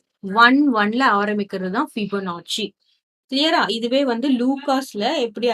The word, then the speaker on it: Fibonacci: ஒன்னு வந்து ஃபிபோனாச்சி. சோ இதை எப்படி ஸ்பெல் பண்ணணும் அப்படின்னு பாத்தீங்கன்னா ஃபிபோனாச்சி, ஃபிபோனாச்சி, FIBONACCI. ஸோ ஃபிபனாச்சி இப்படிதான் ப்ரொனவுன்ஸ் பண்ணணும்.